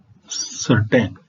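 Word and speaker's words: certain: है दोस्तों ध्यान दीजिए सी के बाद ई और आई आने पर इसका उच्चारण स होता है जैसे CE double L S sales sales का अर्थ होता है कोशिकाएं सर्टेन सीई आर टी ए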